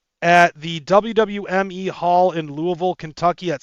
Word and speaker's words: Louisville: If y'all are in Louisville, and that's how you fucking pronounce it, Louisville, then get up, then fucking check that out.